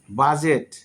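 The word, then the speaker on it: budget: ওকে আমরা এখন শিখবো ডি তো সাধারণত ডি প্লাস জি অথবা যে যদি থাকে সেক্ষেত্রে ডির উচ্চারণ হয় না।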